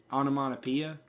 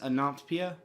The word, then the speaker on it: onomatopoeia: use a word a word onomatopoeia which I pronounce an optpia which I'm gonna say this I don't believe now it is the correct way to say it although it is possible